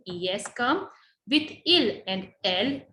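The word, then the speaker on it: elles: L means they, but in case of feminine group. So if there is a group of girls, we say L. S is silent, so we never pronounce this.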